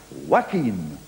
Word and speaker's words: Joaquin: We have a celebrity coming on now who spells his first name Joaquin, but he wants it pronounced Joaquin.